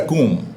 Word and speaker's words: comb: That's a comb, C-O-M-B, in order to brush your hair.